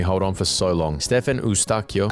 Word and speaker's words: Eustáquio: Stefan Eustáquio, actually it's pronounced Stefan Eustáquio.